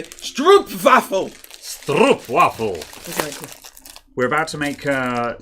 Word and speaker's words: stroopwafel: on my mug also i don't believe it's a street waffle i believe it is a stroop baffle we're about to make